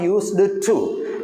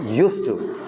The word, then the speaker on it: used to: It is not used to. This is wrong. The correct pronunciation of that phrase is used to.